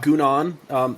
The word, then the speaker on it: Gounon: Gounon. Thank you for pronouncing that first because I would have said it wrong.